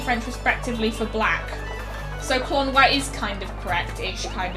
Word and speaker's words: Klonoa: Basically, he basically, as a kid, he always pronounced Klonoa as Clona, and then he found out it's actually supposed to be pronounced Klonoa.